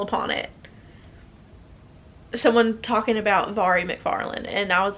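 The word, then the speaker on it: Mhairi McFarlane: ever discussed her in but it is avari mcfarlane and i learned that because i took the time to read something that had it broken down phonetically i don't remember where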